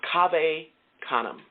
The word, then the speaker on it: Cave Canem: family of poets called Cave Canem. Cave Canem. It's spelled C-A-V-E, like cave, okay? Canem, C-A-N-E-M. Look them up. Cave Canem. It's Latin, okay?